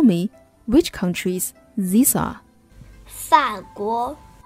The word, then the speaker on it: 法国: 法国 France 法国 The pronunciation starts with F 法 So when you want to say 法国 Think about how you pronounce France France 法国 Now read after me